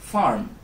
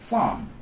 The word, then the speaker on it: farm: example ধরি ফার্ম FARM যদি আমি ইউএস অ্যাকসেন্টে প্রনাউন্স করি ইজ ফার্ম আরটা প্রপারলি প্রনাউন্স হচ্ছে whereas ইউকে অ্যাকসেন্টে আরটা কিন্তু silent is more like ফার্ম সো আমাদের এই জিনিসটা